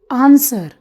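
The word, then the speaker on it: answer: आंसर, इसको हम बचपन से रट्टा मारते हुए आ रहे हैं, पर हमें ये नहीं पता इसमें डब्ल्यू साइलेंट है।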